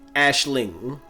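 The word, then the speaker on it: Aisling: It's Ashling, not Ashley.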